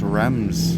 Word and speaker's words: Reims: I actually think this is pronounced Reims. I never know when in French the S's are silent.